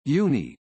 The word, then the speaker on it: UNI: uni is pronounced uni it is the high-end